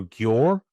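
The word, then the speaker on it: Győr: playing for Gore, I think is the correct pronunciation, um, in the second division in Hungary.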